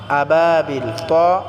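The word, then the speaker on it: أبابيل: আলাইহিম এখানে কোন টান করা যাবে না আলাইহিম আবাবিল তকে আমরা পুর করে উচ্চারণ করব আবা বাটা আমরা এক আলিফ টেনে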